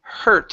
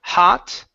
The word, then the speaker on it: hurt: Next up is the word um hurt instead of hot.